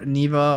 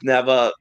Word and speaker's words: Neva: I both played neeva I'm pronouncing it like neeva because that's the way I heard it when she pronounced it she says Nea in the game I'm